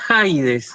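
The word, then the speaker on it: Ἀΐδης: Entonces, si tenés la diéresis, eso ya me indica que no hay diptongo. Entonces, Claro, eso se pronunciaría Haides, y ahí sí, está en el orden normal.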